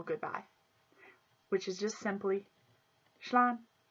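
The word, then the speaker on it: slán: And seeing how all this time we've become friends, we'll do the informal goodbye, which is just simply shlan, shlan.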